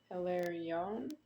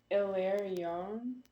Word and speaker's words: Hilarion: Hilarion. Something like that. Do you say the H? Hilarion. Uh, Hilarion. That's what I would say.